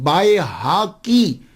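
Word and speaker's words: البيهقي: इमाम बैकी बैकी बैकी हम अक्सर लोग बैकी बोलते हैं। लेकिन मैं उनको गलत नहीं कहता। क्यों? हमारे माशरे में यही है। आप बताइए कि इमाम बाय हाकी बड़ा मुश्किल है प्रोनाउंस करना।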